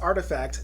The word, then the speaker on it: RTFKT: crypto and blockchain Technology rtfkt pronounced artifact Nike's fourth brand had